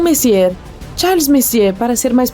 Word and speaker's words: Messier: e m43 bom o m significa messier pronunciado messier e não messier Charles messier para ser